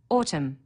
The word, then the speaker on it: autumn: Autumn, a silent N on the end.